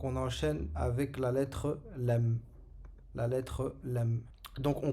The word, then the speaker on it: ل: Donc le lem, il a la même prononciation que le le ou le l en français.